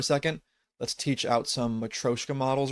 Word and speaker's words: matryoshka: They use the term matryoshka, which actually is pronounced matroshka, I believe, where basically they do something similar with splicing out smaller models.